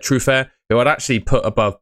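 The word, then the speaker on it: Truffert: Like I said, Truf Fair, who I'd actually put above both of these. I think that's how you pronounce it. Truffer, it's spelled, but he's French. So, I'm giving it a French pronunciation.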